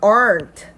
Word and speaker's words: aren't: No, there aren't good restaurants. 자, there aren't 해서 t가 있지만 t 발음은 사실 크게 들리지 않습니다.